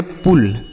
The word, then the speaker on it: pull: तो अगर यू के बाद डबल एल लिखा रहेगा तो यू का उच्चारण हम छोटाओं की मात्रा करेंगे, जैसे बुल, फुल, पुल, मुल, डुल।